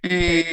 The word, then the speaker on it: either: Either means, okay. Yes. When I have to pronounce either or either. Well, American English would say either. British English, either.